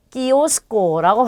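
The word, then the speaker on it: kiosco: 그 다음에 얘는 이가 들어가 있기 때문에 끼로 발음이 되겠죠. 그래서 키오스코라고 발음하시면 돼요.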